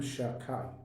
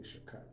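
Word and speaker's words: שדי: Shabbat hi b'chinat shem shin daled yud, which you don't pronounce the name of Hashem, Shakai. Say Shakai.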